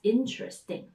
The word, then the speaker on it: interesting: That's interesting. Interesting has three syllables.